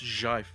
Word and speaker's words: GIF: I think that was what he actually said, but It's jive. Jive. It's a soft j sound.